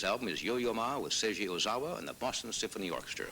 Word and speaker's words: Seiji Ozawa: His latest album is Yo-Yo Ma with Seiji Ozawa and the Boston Symphony Orchestra.